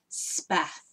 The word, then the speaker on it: Spath: this book the main character is called Spath as in rhymes with bath well is it of bath take the B off and put s P instead yeah that's a really